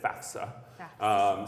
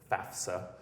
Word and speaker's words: FAFSA: people love it when people pronounce it FAFSA not FAFSA FAFSA okay so I've given you a little college knowledge out there parents students back the F comes before the S FAFSA but FAFSA is